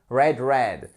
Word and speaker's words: read: sa prononciation parce que c'est exactement la même forme au niveau orthographe et pourtant elle change la prononciation. To read, read. So yesterday I read the news et pas I read the news. So pay attention to that.